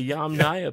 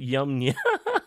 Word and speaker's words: Yamnaya: Yum Nai. Okay, so the Yum Naya people, not Yum Nya.